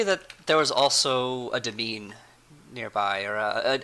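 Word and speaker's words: demesne: there was also a devine nearby or I guess it's pronounced domain like a you know like a place where you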